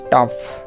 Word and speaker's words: tough: তাহলে TOUGH, টাফ, দেখো শেষে ফ উচ্চারণ হয়েছে, টাফ অর্থ কঠিন।